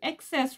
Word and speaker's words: Excess: le le ex ex voilà comment il se prononce he en anglais s'il vous plaît là on est sur le excess Revolution beauty London liquid